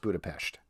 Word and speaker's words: Budapest: It is pronounced Budapest.